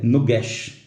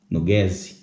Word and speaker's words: nugesh: Porque os samaritanos eles não conseguiam pronunciar. Eles pronunciavam nugese. Eles não conseguiam pronunciar nugesh.